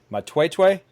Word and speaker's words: Matwetwe: But getting back to your outfitting business there, and correct me if I'm wrong, but it's pronounced Matwetwe. Is that perfect? You're one of few that knows how to pronounce that.